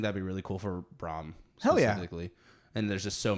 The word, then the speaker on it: Brom: you can give Brom, let him do one of those.